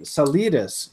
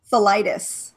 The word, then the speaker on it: Salitis: Salidas. Salidas, I think, is what I used to Yeah, think. most people go for the Mexican version. It's actually Greek. How do you pronounce it? Salitis.